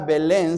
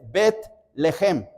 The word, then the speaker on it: Belén: La palabra, la palabra Belén significa casa de pan. Casa de pan. En el hebreo no es Belén, sino es Betlejem. Betlehem. Bet significa casa, lejem significa pan, casa de pan. Pero en la en la estructura del español se reduce la palabra y se pronuncia Belén.